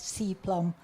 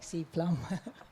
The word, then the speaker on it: SEA-PLM: Some people like to pronounce it as Cplum. I like Cplum.